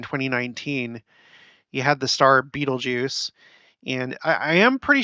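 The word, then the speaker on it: Betelgeuse: put this to rest some people are like no it's not pronounced Beetlejuice pronunciate there we go pronunciation be told Jews oh bam I say bam that's how you say it it's uh and and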